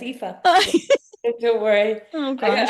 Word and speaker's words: Aoife: I've been saying, even after you pronounced it, I said Aoife. It's Aoife. Yeah, that's okay. You're close enough. Yeah, it's Aoife.